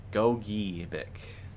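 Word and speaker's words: Gogebic: All right, Julie, I'm going to listen to your pronunciation here real quick. Go-gi. Got it. Go-gi-bic.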